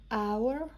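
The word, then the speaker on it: hour: بهتون بگم نوشته برای اور نیز ان به کار به کار به کار میبریم ما اینو نمیخونیم و ا پس چون ا تلفظ نمیشه به صورت ان اور پس ان به کار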